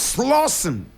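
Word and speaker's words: Slauson: a member of the street gang known as slen slen now slen is spelled s l a u s o n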